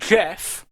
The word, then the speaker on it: Jeff: Alongside Jeff, which is how you pronounce it, we've probably mispronounced it multiple times, it's just Jeff.